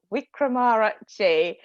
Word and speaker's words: Wickramarachchi: I will start by pronouncing my surname. That is Wickramarachchi.